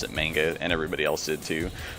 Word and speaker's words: manga: Like it's a word that has entered the English language as manga. Like people, I'm trying to think of another example, but it's like the English word for Japanese comics is manga and is pronounced that way, even though that's incorrect.